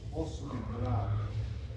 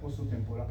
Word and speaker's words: temporal: hueso está en portugués oso temporado la l se se pronuncia como u por si acaso ya en portugués tempor se dice no oso tempor Ahí está superficie articular oso temporal Esa es la parte